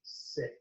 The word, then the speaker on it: Scyk: uh we get the sick the stick the kicks this is this this mix they don't know but yeah it's sc like scissors sick that works see i pronounced it right yay um so